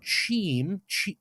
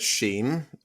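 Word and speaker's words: Cheam: to take you to his hometown of Team c-h-e-a-m honestly when I heard that I thought he said Sheen as in it's a very weird pronounced thing but anyways he's going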